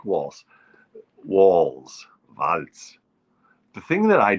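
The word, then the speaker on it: Walz: yes Waltz listen walls we got to call them walls that's how it's pronounced walls although in German you'd say VZ the Z is a is pronounced like a t vaultz hello Tim vultz will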